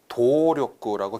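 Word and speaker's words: 努力: 지금 아마도 도력구라고 길게 하신 분이 많으실 텐데 조심하세요. 이 노자는 절대로 장음 처리하지 마시면 하시면 안 됩니다. 도력구 짧게 읽으셔야 돼요.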